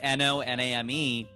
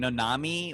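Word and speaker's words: Noname: name was no name her name was literally no name n-o-n-a-m-e and when people would see it they're like what's her name nanami or naname and she's like no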